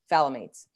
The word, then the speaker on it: phthalates: Phthalates. Just ignore the T.